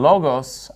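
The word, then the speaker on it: λόγος: And notice in logos, I'm putting the stress on the first syllable because that's where the accent mark is.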